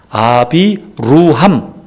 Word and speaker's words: 아브라함: 아브라함이라고 하는 것은 아비루함. 이 말이 아브람, 원래 발음은 아비루함이에요.